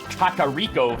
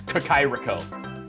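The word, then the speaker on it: Kakariko: I know any better takariko Village or he's like no it's it's kakairiko it's kukai wait do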